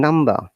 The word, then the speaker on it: number: correctly meaningfully and effectively look at the pronunciation number r is silent if you remember in british accent or british english we don't pronounce r in many cases especially if it is at the middle of the word at the end of the word because of this schwa sound of these you know non-rhotic nature what is non-rooting non-writing means where we don't pronounce r at all and number is one